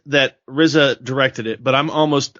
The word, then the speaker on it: RZA: to say his name arza is that how you say it I think people just say the Rizza Rizza okay yeah Rizza